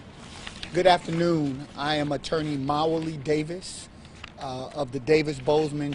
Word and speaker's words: Mawuli: I am attorney Mawuli Davis of the Davis Bozeman Johnson law firm. Mawuli is spelled M-A-W-U-L-I, Davis, D-A-V-I-S.